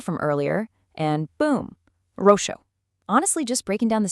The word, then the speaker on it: roxo: Now, compare that to the word for purple, roxo. That letter X right in the middle is pronounced as an SH sound, exactly like the English word she.